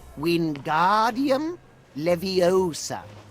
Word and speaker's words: Wingardium Leviosa: like this Wingardium Leviosa pay attention to your pronunciation it's wind guardium Leviosa how did representatives of